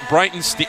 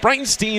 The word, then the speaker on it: Breitenstein: It is Stein like a German beerstein of beer.